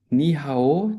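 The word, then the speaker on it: 你好: And Ni hao, did I pronounce it correctly Yeah.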